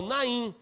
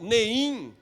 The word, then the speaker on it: Naim: Até que Jesus chega a esse local, Naim ou Neim, como alguns vão pronunciar, como o povo de